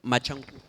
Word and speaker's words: Machankura: Can you pronounce the name of your company again? I want to say it correctly. Machankura.